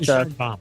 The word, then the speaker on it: Sheinbaum: Yeah, I think today's news with the new president coming in, the female, I can't pronounce her name, but Sheinbaum.